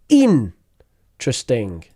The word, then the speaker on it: interesting: and finally in interesting in trusting interesting in in interesting so it's like the E disappears there we go in trusting trusting trusting